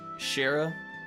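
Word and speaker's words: Scherazard: Lassie's a bad problem scares should be pronounced with the the sh sound so basically just as shared pretty much without the the sea Shara it's probably closer I agree it's pretty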